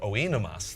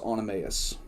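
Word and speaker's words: Oenomaus: related to Spartacus um and it's pronounced animaeus but who cares it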